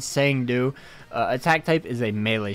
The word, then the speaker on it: Cang Du: 25 so pretty nice uh for the uh Kang do or sang do apparently is how it's pronounced that's what the guy in the trailer said sang do attack type is a melee strong attack all